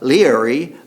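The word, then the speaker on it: Laoghaire: The High King, whose name is spelled Leoghare in Gaelic, but is pronounced Leary of Tara, had decreed that no one could light a fire before Leary began the pagan spring festival, Bealtaine, a druidic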